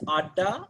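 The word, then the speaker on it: আড্ডা: to find an exact english translation it is pronounced as ada it's a bengali word it's kind of having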